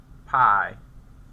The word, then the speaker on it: pi: B, which is 2 pi over 2. I just realized I said 2P. You know, the Greek pronunciation of pi is actually P. Do you guys know that? We say it wrong.